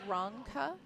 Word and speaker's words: Rzonca: It's pronounced Rzonca. You don't pronounce the Z.